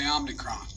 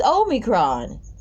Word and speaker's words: omicron: last week in southern africa it's called the omnicron it is on the crime damn why you all got to pronounce everything differently quickly notified this what you